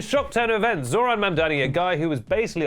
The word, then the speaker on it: Mamdani: The name is Mamani. M A M D A N I. You should learn how to say it because this dude's the dang mayor now.